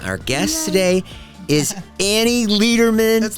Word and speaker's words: Lederman: she's here and our guest today is Annie Lederman that's Letterman but it's okay I'm a natural born leader people Amy Letterman you know what I used to do a